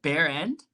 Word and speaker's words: Behrend: Karah, is it Behrend? It's Behrend, yeah. Behrend. Go ahead. See, I pronounced it Behrend. I mean, bear like the paint and like your ass, whatever.